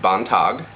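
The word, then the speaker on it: Beantigh: For home protection, you can call on the Bontog, which is actually spelled B-E-A-N-T-I-G-H, but it's pronounced Bontog.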